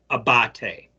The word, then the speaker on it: Abate: title Deputy FBI director his name is Paul Abate and that's how Ted Cruz pronounced it so uh I believe I'm pronouncing his the last name correct here and Ted Cruz